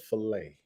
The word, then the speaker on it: fillet: see it we don't call it affiliate we call it fillet don't pretend to try to be french and posh okay it's a film